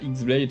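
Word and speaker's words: χ-blade: Son nom se prononce de la même façon, mais s'écrit Keyblade, donc X, la X-Blade si vous voulez.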